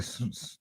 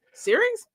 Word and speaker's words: Cerise: Oh man, probably Cerise. How you pronounce it? Series? No. It's CERI.